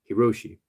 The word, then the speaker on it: Hiroshi: his name lockheimer hiroshi my name is rishi his name is hiroshi so that shouldn't be too hard to pronounce so with this partnership